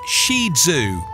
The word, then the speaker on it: Shih Tzu: trimming and grooming five the right way to pronounce the name sounds more like shizu i found this important because almost anytime you hear somebody talking about the shih tzu it isn't pronounced properly